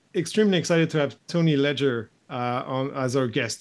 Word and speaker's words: Leger: it in the states I pronounce it just like that ledger okay perfect yeah and